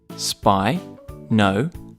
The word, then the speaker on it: Spinosaurus: Spinosaurus. Can you say it with me? Spinosaurus.